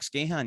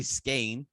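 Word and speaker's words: Skahan: I talked to Jack Scahan yesterday, oh my god, I said his name wrong. I had him on yesterday. Jack Skane, so it's actually Skane instead of Scahan.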